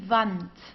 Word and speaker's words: Wand: Okay, we pronounce it as V, die Wand, die Wand. Okay, so we don't have something like in English like woo, like wall. We don't have this. We say Wand, okay, Wand.